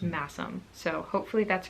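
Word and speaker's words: Masham: yarn i pronounced it mash'em and i believe it's pronounced massim so um it is spelled sh but i think it's pronounced masum so hopefully that's correct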